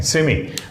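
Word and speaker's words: semi: और अमेरिकन में इसको सेमाई भी बोलते हैं। अमेरिकन में लास्ट पे जब आई आ जाता है तो उसको आई प्रोनाउंस करते हैं, सेमाई ट्रांसपेरेंट। तो कहीं लिखा हो तो आप कंफ्यूज मत होइएगा, वो सेमी ही है।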